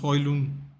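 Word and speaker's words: Højlund: Actually, apparently, you don't pronounce the D at all. Apparently, for his name, so it's HOJLUND.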